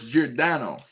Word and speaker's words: Giordano: So, it's Jordano.